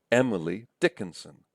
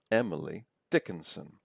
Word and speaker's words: Emily Dickinson: And you can hear it in names too. William Wordsworth, William Wordsworth. Or Emily Dickinson, Emily Dickinson. Stresses on the first syllables, I think, in both of those cases, right?